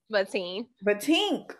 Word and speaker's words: Vatein: So think about like my grandmother's name is Ernestine. Everybody call her Auntie Teen. Okay. I put, and my other grandmother's name is Verta. So I took my B from one grandmother. I took my teen for the other one, Vatein.